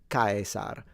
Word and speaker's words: Caesar: So I believe in German it's pronounced Kaiser, while in classical Latin it would be Caesar. And the difference would be that the S is a S and the R is fully trilled.